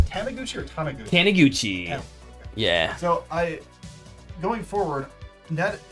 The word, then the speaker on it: Taniguchi: I would say in Matt, is it pronounced Taniguchi or Taniguchi? Taniguchi.